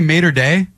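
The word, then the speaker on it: maître d': Are you trying to say mater day or die? Nope. No. Mater day, like alma mater.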